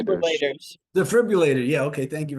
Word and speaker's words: defibrillator: Defibrillator. Defibrillators. Defibrillator. Yeah. Okay. Thank you very much. Defi you later. Five syllables.